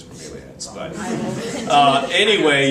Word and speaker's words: bromeliads: I say bromelates. Bromeliads. They look is like the- bromelates. Okay, the way to pronounce it is bromeliads.